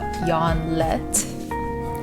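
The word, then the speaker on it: Jørgen Leth: So basically it's a documentary filmed in 2003, and it's Lars von Trier, the crazy Danish director, and his mentor Jan Lett, that's how you say it, kind of battling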